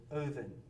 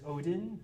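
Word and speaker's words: Óðinn: Uh so you may know him better as Odin, that uh D looking thing right there with a line through it is pronounced uh like a voiced th as in then.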